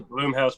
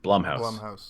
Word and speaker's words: Blumhouse: up to me to decide shout out to bloom House Productions too Blum blumhouse oh is that how you say it my